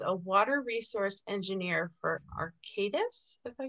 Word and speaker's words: Arcadis: And she currently works in Indianapolis, where she's a water resource engineer for Arcadis, if I said that.